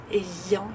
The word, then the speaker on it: ayant: Para avoir va a ser ayant, ayant, como le ven la pronunciación, ayant, bien, nasal, ayant, y la agrega ayant.